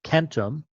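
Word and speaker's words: centum: And Latin, Kentum, which is a hard C, it's pronounced as a k, and the k of Greek, hecaton, shows that this is the case.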